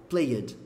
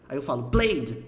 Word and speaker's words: plaid: que é Cleide aí você e fala plaid plaid você Player porque o E tá lá e você quer falar ué mas não não fala eu sei que ele